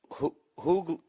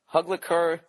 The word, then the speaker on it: Hugleikur: It's just search I Hate Dolphins, and the comedian's name, it's Hugleker, I don't know, Hugleker Dogson, and it's spelled Hugleikur, and his last name is Dagson.